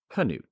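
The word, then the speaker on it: Knute: However, as his fame grew into the 1920s, the American tendency to simplify foreign pronunciations took hold and the silent K became increasingly common.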